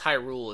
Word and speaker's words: Hyrule: hi Lillian I've played the I know it's Hyrule is how you pronounce the Kingdom but I don't know that